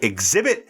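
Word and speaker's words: Xzibit: in 8 Mile I when I first saw that name exhibit I did not know how to pronounce that I'm like x z i b t what the hell is that but once you see the pronunciation it kind of makes sense yes the two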